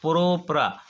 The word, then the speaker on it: propranolol: इसमें देखो, इसको प्रोनाउंस करो प्रोप्रा। 3 कार्बन को हम लोगों को पता है कि 3 कार्बन को प्रोपेन बोलते हैं, 3 कार्बन को क्या बोलते हैं, प्रोपेन।